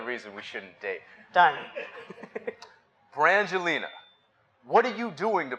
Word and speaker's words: Brangelina: How do you pronounce that word right there? He doesn't know Brangelina.